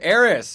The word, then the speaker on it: Arras: Arras. If I say your name right, I always screw it up. That is correct. Arras. Arras.